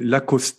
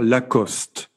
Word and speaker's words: Lacoste: salem acheter au japon on a tendance à prononcer lacoste et mais comme il n'ya pas d'accent aigu sur le final on doit dire lacoste dit cela ni romney